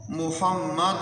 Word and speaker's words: محمد: پر زبر پڑھنی ہے۔ بعض لوگ لفظ محمد کو اس طرح پڑھ دیتے ہیں محمو، تو محمو یہ تلفظ غلط ہے، محمد پڑھنا ہے۔ اور پھر دال پر بھی بہت سارے لوگ غلطی کر دیتے ہیں، محمد در پڑھ دیتے ہیں محمد در رسول اللہ، تو یہ صحیح نہیں ہے۔ تو صحیح تلفظ یہ ہے محمد دال پر پیش پڑھنی ہے، محمد رسول اللہ۔ ایک بار دوہرا لیں،